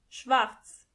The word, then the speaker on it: schwarz: Black means schwarz. Schwarz. As you can see, the letter R is not pronounced as R, but more like R. So together you say schwarz.